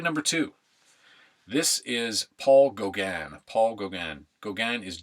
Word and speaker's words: Gauguin: one today slide number two this is Paul Gauguin Paul Gauguin Goggan is G au Guin G au Guin pronounced Goga and this is called Jacob wrestling the angel